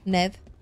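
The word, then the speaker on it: Niamh: good now need didn't neev go stop calling her NE that's not how NE is spelled NE is spell n i a m h I keep calling her ne ne but it's neev right um let's go do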